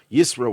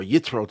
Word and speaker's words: Yitro: that is very unique the word isro or yitro depending on your pronunciation is related to a